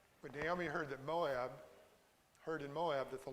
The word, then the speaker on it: Moab: Moab was mo. So it's not pronounced the way that we do. When Naomi heard that Moab heard in Moab that